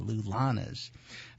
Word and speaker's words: LullaNAs: do is simply Google them uh the Lanas is spelled l u l l a n a s the lulas uh well there's a big event in Philadelphia